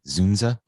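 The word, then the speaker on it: Dzundza: it uh george zunda how do you say his name is the dunes d-z-u-n-d-z-a zunza you know what i'm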